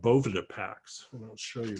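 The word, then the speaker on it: Boveda: They invented these things called Bovida packs. And I'll show you one. This is a Bovida pack, okay? Bovida is spelled like that.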